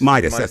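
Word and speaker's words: Meidas: you know, does the the M E I D A S however that's pronounced. Everybody pronounces it a different way. Channel. Midas. That's the way it is.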